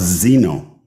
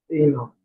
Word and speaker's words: Eno: The man was born Opham Charles Zeno. There you go. Did I say it right? Wow. Eno.